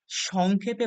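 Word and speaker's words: sec: আমরা পড়বো এটা হচ্ছে সাইন আচ্ছা কোসাইন কে সংক্ষেপে বলা হয় কস এটাকে আমরা পড়বো হচ্ছে কস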